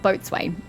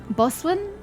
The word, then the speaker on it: boatswain: to pronounce that word it's not boatswain it's boswin i don't remember how